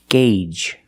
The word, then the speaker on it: gauge: a sound gauge the long a like in day and say and pay gauge the first G is a hard G sound followed by the long a gay and the second G is the J sound like in juice and jump together gauge you have one gauge